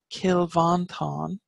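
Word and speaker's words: Cill Mhantáin: yeah but the Irish term for us is kill van Thanh which means the Church of the toothless one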